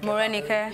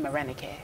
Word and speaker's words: Marenikae: None of my Igbo friends can pronounce Marenikae. Marenikae.